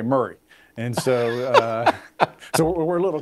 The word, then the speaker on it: Maury: And now keep in mind, in Tennessee, it's spelled Maury, but we say Murray.